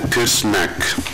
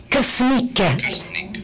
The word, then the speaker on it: Krsnik: Donc, Maître Krsnak, si je prononce bien? Ce n'est pas toujours facile. Krsnik. Krsnik.